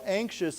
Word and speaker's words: anxious: An now this has a shh sound to it.